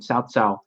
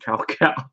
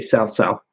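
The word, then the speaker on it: Cao Cao: in the English dub they didn't start calling him south-south I think until like dynasty warrior six when somebody pointed out like ah that's not how to pronounce a guy's and sadly I still call him cow cow cuz I'm used to that and I'm used to that pronunciation cuz I am NOT Chinese enough to say sell sell but yeah yeah he's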